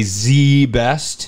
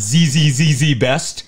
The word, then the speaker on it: ZZZZ Best: is how it's pronounced is you have to say Z best it's Z best carpet it's not zzz best nope it's the best